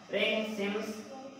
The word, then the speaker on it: Pringsheim: पढ़ने में बहुत सारे लोग प्रिंस बोल देते हैं, प्रिंस नहीं होता, पी साइलेंट होता है, रिंग्स सिम्स थ्योरम, ठीक है ना।